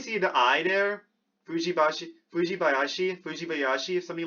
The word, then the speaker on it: Fujibayashi: Fujibayashi.